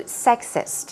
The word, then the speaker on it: sexist: Moving on to sexist. Here we go. Stress goes on the first syllable, and this is another word, chauvinist.